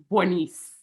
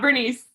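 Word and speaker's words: Berniece: In this particular show, one of the things I love, especially about the film version, is Bernice. It's not Bernice, Bernice.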